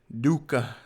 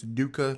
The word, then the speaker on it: Doka: right so this is Dua the Wild and that that little o has a little Aon on top I figure what they're called but it's pronounced like an ooh sound so it's Dua the wild he is